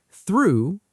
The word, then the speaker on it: through: Through, pronounced like to.